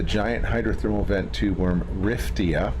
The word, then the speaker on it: Riftia: talking about the giant hydrothermal vent tube worm riftia it's spelled r-i-f-t-i-a I was just being a little